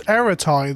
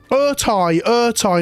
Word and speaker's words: Ertai: Ertai, not Eratai, Ertai. There we go. Yes, it is Urtai.